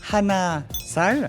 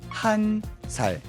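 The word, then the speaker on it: 한 살: Donc vous vous souvenez hein, pour dire un c'était Hann et bien pour dire un an on va pas dire Hann sale, on va plutôt dire han salc et pour dire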